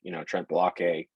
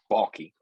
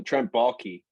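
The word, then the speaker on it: Trent Baalke: with, Trent Blockay, or I slaughter his name every time. Because I see the way that that's spelled, and I immediately think Key and Peele for some reason, with the Balake, but it's Balky.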